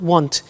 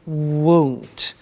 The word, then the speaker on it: won't: Be careful with the pronunciation. It's not want, it's won't.